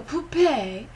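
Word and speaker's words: poupée: where the puppets or a poupee in the french pronunciation ask uh relevant timely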